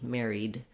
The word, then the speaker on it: married: So Mary, just like Mary plus a D, married.